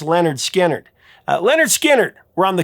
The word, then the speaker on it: Lynyrd Skynyrd: With the release of their debut album, pronounced Lynyrd Skynyrd, Lynyrd Skynyrd were on the cusp of something truly massive.